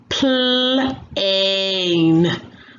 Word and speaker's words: plane: The first word has 2 vowels, so that means the A says its name and the super E is silent. Let's sound it out. Plane.